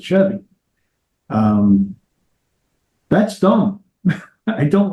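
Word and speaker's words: Sheavy: S-H, basically S heavy. S-H-E-A-V-Y. And so it sounds, I'm assuming, I actually haven't heard them say it. So I don't really know how you're supposed to pronounce it, but I would assume you pronounce it Chevy.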